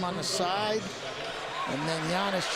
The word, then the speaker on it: Giannis: the side and then giannis just barely touches him yes the g is silent but enough to give